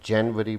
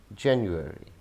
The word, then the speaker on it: January: हम इसको जनवरी कहते हैं। आई वॉज बॉर्न इन जनवरी, या इसको जनवरी भी कहते हैं या जनवरी भी कहते हैं। सो जनवरी all are wrong. The exact pronunciation is January, January, January.